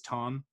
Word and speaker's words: Thom: One of those obvious reasons is Tom, spelled like Thom, but his voice is kind of an obvious reason.